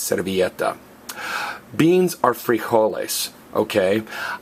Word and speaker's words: servilleta: napkin napkin CET and again the Double L is pronounced as a y so it's cetta beans are free holes